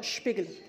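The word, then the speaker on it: Spiegler: اوكي بروك شبيجلر شبيجلر الاس بي ده في الالماني بتتنطق شبيجلر عايز اقول يا سبيجلر ما حدش يعني بيدور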